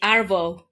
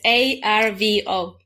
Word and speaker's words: arvo: or lard the afternoon in Australia we say arvo a that's a r v o arvo arvo what in the world it's abbreviated